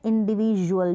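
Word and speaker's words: individual: जैसे यहाँ पर देखें इंडिविजुअल है, आप ये जो बीच में DU नज़र आ रहा है ना, ये अब यहाँ पर D को हम इंडिविजुअल नहीं बोल रहे हैं, हम बोल रहे हैं इंडिविजुअल, ज का प्रोनाउंसिएशन आ रहा है, ठीक है।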